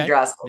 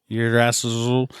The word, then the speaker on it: Yggdrasil: Yggdrasil.